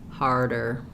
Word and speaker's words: harder: So I would start by just working on R, and then thinking of it as a D can help you, but light, not a strong der, but just arder. So try R, arder, harder, or R, arder, starter. For most people, what happens is this R gets kind of lost. It becomes more hotter.